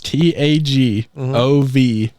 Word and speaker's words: Tagovailoa: Spell it. Quit looking. Read it, Ken. Tagvai. What? That's exactly how you have it. You got the first 3 letters right, King. What are you talking about? It's Tagovailoa.